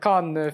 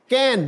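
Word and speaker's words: Cannes: pronounce this word the कान film festival C A double N ई एस कैन नहीं एस नहीं बोला जाता ना कन बिल्कुल नहीं कैन कैन film festival you know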